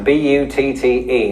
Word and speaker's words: butte: you can't do so easily with this yes b-u-t-t-e now before I go any further it's probably